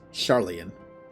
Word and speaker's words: Sharlayan: That is pronounced Sharlayan.